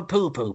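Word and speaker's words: pupu: Do gay people, if they go to a Chinese restaurant, do they have a poo-poo platter? Have a what platter? A poo-poo platter! Oh, yeah. That's spelled P-U-P-U, isn't it, I think?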